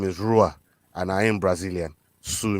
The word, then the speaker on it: Rua: It's pronounced Hua. He's Brazilian, he says. Well, I say his name is Rua, and I am Brazilian.